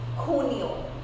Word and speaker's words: junio: June is junio. In my previous session of Abecitario, I mentioned that J we pronounce it as Kota, so it's junio, junio.